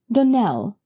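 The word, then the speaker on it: Donnell: Donell, accent on the last syllable, and St.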